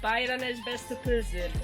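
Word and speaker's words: Bæjarins beztu pylsur: How do you pronounce that? Bæjarnes bestu pussur.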